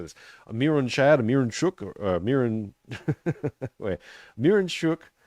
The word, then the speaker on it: Mironchuck: Miron, as it's spelled, Miron, is pronounced mir, like one of the things they gave Jesus, myrrh, frankincense, gold, frankincense, and myrrh. Right, so mir, Mironchuck.